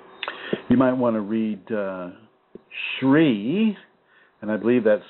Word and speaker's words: Sri: You might want to read Sri, and I believe that's spelled S-R-I, Aurobindo, capital A-U-R-O-B-I-N-D-O, Aurobindo.